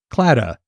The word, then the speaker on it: Claddagh: where it's explained that most Modern Irish folk pronounce it clada so that's how we'll